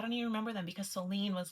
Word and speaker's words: Soline: And I was like, we could, but Solene and Charlene rhyme. So we can still spell it Line, but just pronounce it as Lene. So my daughter's name is Soline Rosalinda, decided before she was ever born.